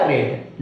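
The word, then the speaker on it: read: आप प्रोनाउंस तो कीजिएगा रेड, लेकिन स्पेलिंग क्या लिखना है? सेम स्पेलिंग होता है, लेकिन इसका प्रोनाउंस होता है रेड।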